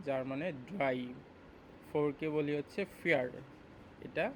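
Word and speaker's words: vier: ভি মানে হচ্ছে ভে, ভি মানে হচ্ছে এফ এর মতো উচ্চারণটা হয়, ভি এর উচ্চারণটা হয় হচ্ছে এফ এর মতো।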